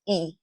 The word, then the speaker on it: y: And that Y in Spanish is pronounced E, right? And it means and, okay?